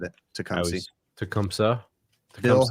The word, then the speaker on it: Tecumseh: Tecumseh has one too that makes Tecumseh makes refrigeration compressors too.